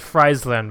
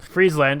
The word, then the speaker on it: Friesland: correctly I was corrected I said Friesland before which is obviously very incorrect now that I see it Friesland is apparently the correct way to say it these two are tied